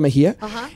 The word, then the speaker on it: Mexía: con Luis este Mejía Luis mexía con x Pero porque se pronuncia Mejía ellos dos la compusieron